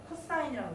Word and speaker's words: cos: 코사인은 빗변의 길이분의 COS라고 적고 코사인이라고 읽어요.